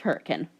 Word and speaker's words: Hurricane: And yes, despite being spelled hurricane, it is pronounced hurricane.